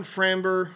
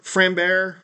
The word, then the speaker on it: Framber: show up and then sa young I'm going framber framber Valdez I think is how he pronounced his name of Houston really good picture